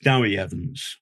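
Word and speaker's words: Dewi Evans: I believe it's pronounced do Evans okay um there's some eccentricity of the Welsh language and I should point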